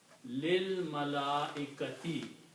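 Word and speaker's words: للملائكة: also when you recite these together we don't pronounce this alif we combine this lamb with this lamb and it sounds lil lil mala ekati and that is the way it is in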